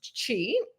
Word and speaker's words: Qi: system is your Chi so it's spelled Qi and it's pronounced Chi and it basically translates